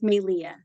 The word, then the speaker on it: Melia: It's pronounced May, like the month. Leah. It's a Hawaiian name, so the E is pronounced like an A. That's where the accent is. So it's Melia.